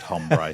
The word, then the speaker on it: hombre: Just remember a very simple rule. H is silent. That's it. Ah yeah. Bad ombre.